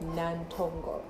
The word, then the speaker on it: Nantongo: proper name is nantongo and that's how i usually pronounce it anyway but my mom's like nantongo yeah so i was